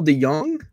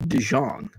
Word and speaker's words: DeJong: a cardinal paul deyoung is it dejong de young i've heard it pronounced both ways um i knew somebody in illinois with the name and i think they pronounced it de young like de young but i've heard it also pronounced dijon i don't know if